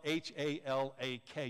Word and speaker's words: halak: learned and it's the word halak it's spelled h-a-l-a-k you pronounce it halak when you read in the